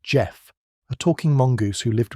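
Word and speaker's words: Gef: This is the story of Jeff, spelled G E F, pronounced Jeff, a talking mongoose who lived with the Irving family on the aisle of man from 1931 to 1945.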